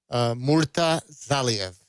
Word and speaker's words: Murtazaliev: And how do you pronounce the next man's name again? I'm sorry. Murtazaliev.